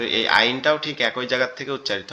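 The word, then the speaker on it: ع: তো এই আইনটাও ঠিক একই জায়গার থেকে উচ্চারিত হবে আইন, আইন, আইন, আইন, আইন, একটু গলা চেপে আওয়াজটা আসবে।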